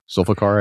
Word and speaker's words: Zulfiqar: Zulfiqar, I believe is how it's pronounced.